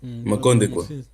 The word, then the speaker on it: Makondekwa: Tenta ainda pronunciar, Papa João Maconde. Papa João Makondekwa. Makondekwa.